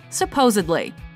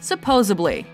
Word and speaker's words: supposedly: of identity number three supposedly common mispronunciation supposably correct pronunciation supposedly what what if I